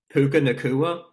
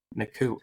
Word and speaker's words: Puka Nacua: How do you pronounce that dude's name? Puka Nacua. Nacua.